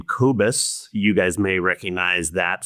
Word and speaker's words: Kobus: I pronounce his name Kobus.